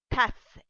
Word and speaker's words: tasse: The sixth E is silent, cup, tasse.